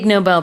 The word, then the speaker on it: Nobel: Noble is the stress is on the first syllable, but the Nobel Prize is usually the second syllable. Nobel Prize.